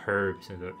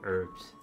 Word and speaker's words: herbs: don't really hate uh they not doing the silent h and herbs herbs whatever you're doing it's not